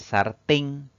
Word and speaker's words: sartén: Esta palabra tiene dos sílabas. La mayor fuerza de voz recae en la última contando de derecha a izquierda. Es una palabra aguda y va a llevar tilde porque termina en una consonante N. Recordemos entonces que las palabras